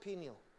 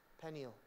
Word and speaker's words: Peniel: one compared to peniel do you pronounce it pineal penile pineal i'll say it's pineal so bethel is this